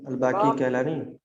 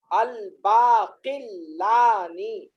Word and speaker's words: الباقلانی: امام ہیں یہ عقیدے کے۔ امام ابو بکر الباقی کیلانی، الباقلانی، الف لام با الف قاف لام الف نون یا، الباقلانی۔ اور ہجے کروں؟